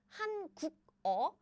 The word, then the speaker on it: 한국어: But if there is any sound before circle, you steal the sound and pronounce it. I see. So it's 한국어, 한국어. So now it's written as 한국어, but the pronunciation is more like 한국어 because you moved this to this circle. Yeah, this 기억 is moved to this position.